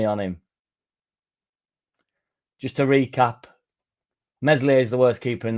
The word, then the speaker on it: Meslier: Meslier is the worst keeper in the league.